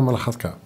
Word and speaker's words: Malakhatka: We're here with Elena Malakhatka. Yes. Is that a good pronunciation?